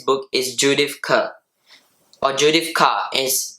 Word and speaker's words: Judith Kerr: So as we can see, the author of this book is Judith Kerr, or Judith Kerr is pronounced in Deutsch and German.